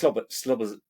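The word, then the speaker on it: Szoboszlai: It's Slobozai.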